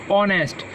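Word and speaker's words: honest: कि हो नेक्स्ट और पड़ते हैं इसमें ऐड साइलेंट रहता ऑनेस्ट तो यू आर ऑन कस्टम अब यहां पर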